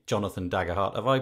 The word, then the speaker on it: Daggerhart: have Jonathan dagger heart I'm gonna say Jonathan dagger heart have I pronounced your surname correctly Jonathan that's correct hey